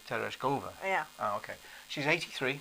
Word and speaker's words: Tereshkova: valentina i don't know i think you meant to put the accent on the third syllable so tereshkova yeah oh okay she's